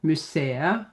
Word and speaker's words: museet: So, for example, et museum, a museum, museet, don't say the t there.